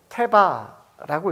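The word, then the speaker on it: תבה: 여러분, 방주는 히브리어로 테바라고 읽습니다.이 표현이 성경에 딱 두 번 나오는데요.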